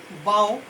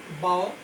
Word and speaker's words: bough: আর এখানে BOUGH, বাও, বাও, BOUGH, এটার উচ্চারণ বাও, এটা মানে হচ্ছে ব্রাঞ্চ।